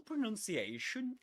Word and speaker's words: pronunciation: It's not sh but And look at my teeth. I barely open them.